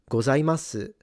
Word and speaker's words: gozaimasu: And in fact, as someone who has lived in Japan and kind of understands the nuances a little bit, most speakers will drop the U.